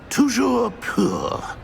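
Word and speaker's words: toujours pur: scrop's French is most pitiful oh very well toujour Pur thank you never speak of this conversation with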